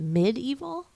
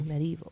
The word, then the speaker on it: medieval: I've been I think I've been pronouncing it medeval Medieval Times no you're but it's an e so like I think you're supposed to say medieval but like I said